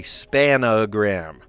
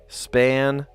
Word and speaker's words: spangram: I heard a kid yesterday say spanogram. Not spangram, but spanogram. Is that how you say it? Does anybody like... does anybody think that's how it's said? Because I don't say it that way. No, I don't. I didn't think anybody said it that way. Right? But there's like spangram, right? It's not spanogram.